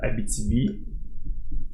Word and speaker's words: Abitibi: Donc on voit qu'il y a une certaine transfiguration au niveau de l'expression et de la prononciation qui nous fait que maintenant, du moins au Québec, on le prononce Abitibi.